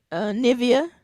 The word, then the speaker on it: Nivea: Nivea. That's how you say her name, right? Nivea, Yes.